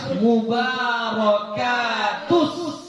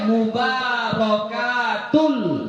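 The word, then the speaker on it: المباركات: Harus mubarakatus. Enggak boleh mubarakatul shalawatul, enggak boleh. Harus mubarakatus, ya.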